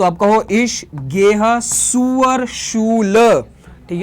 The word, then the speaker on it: zur: इश गेह सुअर शूल, शूल का मतलब होता है स्कूल, ठीक है, स्कूल। आप मेरे प्रोनाउंसिएशन पे फोकस करो, मैंने यहाँ पे जेड